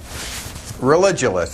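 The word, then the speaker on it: Religulous: name of your movie it's religionist it's like you're staying Rel and then you go to ridiculous for obvious reasons well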